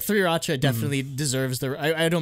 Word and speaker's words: 3RACHA: It's the reason it's 3RACHA is because in Korean, Suri. Yeah. Ooh. Suri-racha.